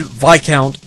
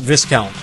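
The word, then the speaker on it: viscount: is completely british that it is indeed vi count not discount but what can you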